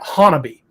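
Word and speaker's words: Honobia: That's the funny thing about Oklahoma, is words that look like they would be pronounced a specific way are very different in Oklahoma. The locals actually pronounce that Hanabi.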